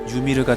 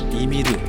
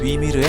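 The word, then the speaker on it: Ymir: 일본에서는 위발음을 카타카나 유로 전사하기 때문에 유미르가 되었지만 정확한 발음은 유미르가 아니라 이미르 또는 위미르에 가깝다.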